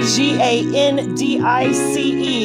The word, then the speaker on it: Gandice: This next song coming on is by Gandice. Now, I looked this up like four times to make sure it wasn't Candace, but it is spelled with a G, G-A-N-D-I-C-E, Gandice.